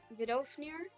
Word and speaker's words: Vidofnir: Nidhogg and I don't Vidofnir? Tracker eating some grass. Teleported. Yeah, this is the same as Erica's route. Cool. By the way, it's Norse, so the V is pronounced W or U.